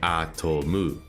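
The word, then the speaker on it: アトム: So the correct way to read this in Japanese would be atomu, or atom, そうか。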